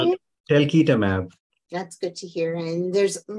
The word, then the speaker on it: talquetamab: There's the telquatamab. Is that how you say it? Telquitamab.